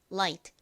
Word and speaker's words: light: 혀를 앞니 뒤에 붙였다 떼면서 발음을 하죠라 라라 light light 이렇게요 발음 연습해 볼까요 먼저 첫 번째 right right